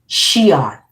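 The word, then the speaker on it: Xi'an: Shion. Shon. The X is pronounced as a S.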